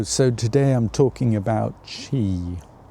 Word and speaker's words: qi: So today I'm talking about chi spelled qi pronouncedq chi life force.